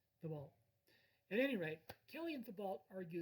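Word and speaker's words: Thibault: and john the beau now the beau has kind of a french cajun last name it's spelled t h i b a u l t t h i b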